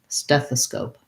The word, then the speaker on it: stethoscope: long on stats death and then i have scope this o actually says an o sound which is a diphthong in american english so make sure you hold your o nice and long and end with the p stethoscope steph the scope